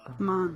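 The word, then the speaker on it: 万: How do we pronounce this kanji the on'yomi? Man.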